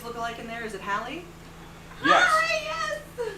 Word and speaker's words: Hallie: Who mispronounces Hallie? Like, what do they say? Holly, Haley.